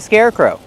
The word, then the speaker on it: scarecrow: That's why it's called a scarecrow. Kevin, how do we pronounce scarecrow? Scarecrow. First, let's look at the word scare. Use the air sound like hair and chair.